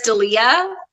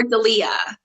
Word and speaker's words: D'Elia: his name that's true is it or daliyah well so the problem is I think that I've heard both but I think it's Chris D'Elia I did they ever